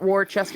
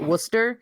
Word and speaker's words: Worcester: New England names like Worcester. Yeah. That don't look. It looks like it's Worcester, but you don't say it Worcester. You say it Worcester.